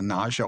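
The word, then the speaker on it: nasya: it into an oil it's called a nausea oil it's spelled nas ya it's a it's an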